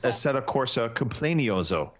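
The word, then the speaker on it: Assetto Corsa Competizione: I did play a bit more of I would just like to point out that it is you're incorrectly pronouncing this title. It is Assetto Corsa Complenioso.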